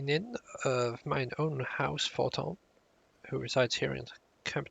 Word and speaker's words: Fortemps: I know that it's not like pronounced as you would read it, or as it's spelt.